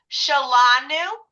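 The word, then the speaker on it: שלנו: That'll be shalanu. And that's where we're going to talk about in a second now is how the pronunciation changes. just a teeny bit um because of the way the vowels are. But but it's basically shall and then new. But yes, it's going to be shall la.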